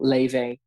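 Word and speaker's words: Laufey: amazing artist from california called leyvay and this spell her name is spelled l-a-u-f-e-y and she does like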